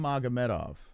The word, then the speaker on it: Magomedov: said karam karam magamettov karam magameta is how you say his name karam magametov that's some name man